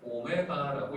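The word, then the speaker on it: ω: 그렇게 했을 때 요 녀석을 W라고 읽는 게 아니라 오메가라고 읽습니다.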